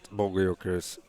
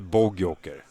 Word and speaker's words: Bogojoker: We need to talk about Bogojoker's pronunciation of his nickname. But it's Bogo. It can't be Bogjoker. No, I don't understand. I have always said Bogo Joker.